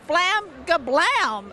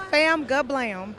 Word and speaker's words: Fam Gablam: Now we're making a special stop at Flam Gablam. That's what did I say it right? Almost. It's Fam Gablam.